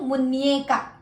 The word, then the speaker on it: muñeca: Wrist is MUNECA, and it has tilde, so muñeca. Remember, end with tilde is nya sound. Nya.